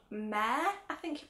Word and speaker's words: Mehr: And this is a matte MAC lipstick called Mehr, I think you pronounce it, M-E-H-R.